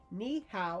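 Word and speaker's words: 你好: But you need to say ni hao. And he actually wrote out ni how. That's how to say it.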